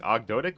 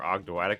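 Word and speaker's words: Ogdoadic: I've heard people pronounce it both ways, like Ogdotic or Ogdoatic, but I prefer Ogdoatic. I'm not sure which one's actually correct.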